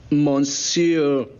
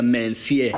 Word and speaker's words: monsieur: Y si es francés, monsieur. No se pronuncia mencier.